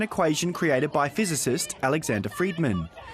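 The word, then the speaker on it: Friedmann: created by physicist Alexander Friedman whose surname is pronounced similarly to Free Man online where negative messages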